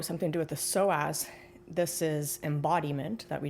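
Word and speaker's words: psoas: So to get to that wavelength of joy, you must release the soaz, which is spelled P S O A S.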